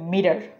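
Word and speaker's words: meter: আমাদের পরের শব্দ হচ্ছে মিটার মিটার এটা ফ্ল্যাপিং করলে হয়ে যাবে মিরার মিরার আমরা এটা সেন্টেন্সে ব্যবহার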